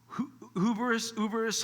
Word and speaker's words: hubris: Hubris, however you pronounce it, silent H or strong H, hubris and arrogance, right?